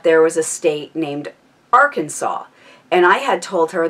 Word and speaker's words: Arkansas: no it wasn't that way that Arkansas is Arkansas and it's just that's how it is pronounced and I absolutely refused to believe my